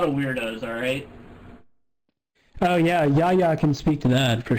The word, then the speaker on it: Jaja: It's probably someone different, but I know there's a TF2 trader named Yaya. It's spelled Jaja. It's spelled like how you laugh in Spanish. You type out a laugh.